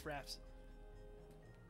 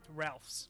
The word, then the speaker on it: Ralph: It's pronounced Moleman. I was saying there you Boorns. Go. There's one. Oh, quick, sweet, it's Raph's. Ralph's, not Raph's.